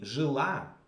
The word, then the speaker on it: жила: But in the case of the feminine singular, it will be жила. So the second syllable is stressed.